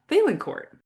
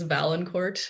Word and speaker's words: Vaillancourt: Uh, the English version is Valanc Court. Um, okay. Yeah, pretty close. It's a very It's a French last name. It should be pronounced with the kind of a French flare to it, but um, yes.